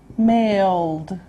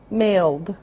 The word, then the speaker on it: mailed: cross crossed next male mailed this one's a D sound male mailed and then we have